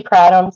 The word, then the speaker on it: kratom: Now I used to say kratom, so however you pronounce it, but I'm trying to say it correctly, kratom.